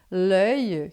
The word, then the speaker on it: l'œil: L'œil, que é uma boca de O e fala E, fica l'œil.